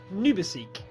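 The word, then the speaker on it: НУБАСИК: I've been told by a Russian viewer that HY6ACYK is pronounced as Nubisik. Nubisik? Nubisik.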